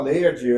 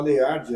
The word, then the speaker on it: Leyard: É Leard ou Leayard? É, muita gente fala layard. A gente tem o hábito de falar Leiard, é um nome realmente asiático e Leiard é o a pronúncia mais comum que a gente mais usa.